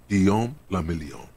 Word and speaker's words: Guillaume Lamillion: Guillaume Lamillion. If it doesn't rhyme, you're not pronouncing it right.